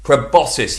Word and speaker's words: proboscis: on my phone to check that i'm putting pronouncing it correctly let's just check proboscis proboscis yes i am uh welcome this week's theme